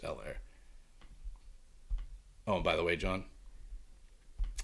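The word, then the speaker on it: Helaire: The Fresh Prince of hell air or el air it's actually pronounced el air oh by the way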